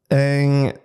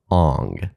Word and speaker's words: Aang: Ong. Ong is how you're going to say it. Isn't it Aang in the No.